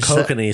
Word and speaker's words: Kokanee: So, how do you say that? Cocaine. Hold on. I got the pronunciation is coming. It is not. Yeah. I love where you're going, but here. Well, I don't fucking do what I want. So. Oh, I have it turned down all the way. Kokanee. Kokanee. Kiss my ass. That's another thing Canadians don't do right.